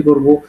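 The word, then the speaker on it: К: এটাকে রাশিয়ানে বলবে কি কা, এবং উচ্চারণটা হবে কয়ের মতো।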